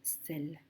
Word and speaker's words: celle: On a le même C qui fait le son S puisqu'il est devant le E.